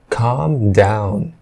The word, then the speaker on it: calm: Você percebe que o L não é pronunciado. Ao invés de calm, você fala calm, calm down, calm down, calm down.